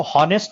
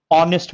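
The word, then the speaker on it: honest: देखो कुछ वर्ड्स होते हैं, एच साइलेंट होता है, इसको हॉनेस्ट नहीं बोलते हैं, ऑनेस्ट बोलते हैं, ऑनेस्ट, ऑ।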